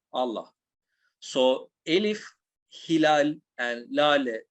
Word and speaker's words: Lale: So Elif, Hilal, and Lale, even though there is a H in here, it's not pronounced. It just makes you prolong the last character. So La, Le, that's why we prolong the Lale over there.